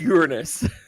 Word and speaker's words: Uranus: It's actually pronounced Uranus, just so people know.